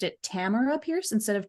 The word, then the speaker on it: Tamora Pierce: else by um how I've just learned you pronounced it Tamar Pierce instead of Tamora Pierce I was pronouncing it wrong my entire life